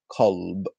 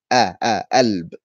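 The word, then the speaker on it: قلب: In standard, the word for heart is kalb. Kalb. Kalb. There. Kalb. In Cairo, we say alb. Alb. In the south, they say galb.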